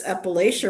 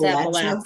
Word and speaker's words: Appalachia: Appalachia, If you're from there, you got people there, whatever, it's Appalachia, Appalachia. Yeah, Appalachia. Okay. Appalachia. But it's people say Appalachia, but it's Appalachia if you're from the South.